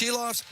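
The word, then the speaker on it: Silovs: say his name AR shiloff shiloff so it's shiloff and picker in the round two game four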